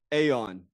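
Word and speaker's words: Aeon: note I have completely changed gears I Now Pronounce it Aon I think would be very passive aggressive to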